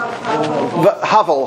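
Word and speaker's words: Havel: when pronounce his name Lovick how do you pronounce his name they print the Prime Minister hovel hovel right when he he was very Pro Jewish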